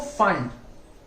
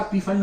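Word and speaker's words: Pfund: पैस्चन, इसको ब्रैकेट, ठीक है, इसको फंड, पी साइलेंट होता, पी फंड मत बोलना, और ये हम्फ्री।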